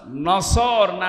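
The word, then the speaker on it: نصر: এই জন্য যারা এই সূরাটা পড়তে গিয়ে সোয়াদ না বলে সিন দিয়ে উচ্চারণ করেন, আপনার কিন্তু নামাজ হবে না।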